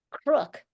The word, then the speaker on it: Crook: William Crook, literally spelled like crook, Crook.